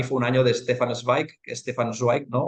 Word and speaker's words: Zweig: A mí el año pasado, por ejemplo, para mí fue un año de Stefan Zweig, ¿no? O Zweig, que depende de la pronunciación en alemán, que fue el año de este autor, y para mí descubrir a Stefan Zweig fue la hostia.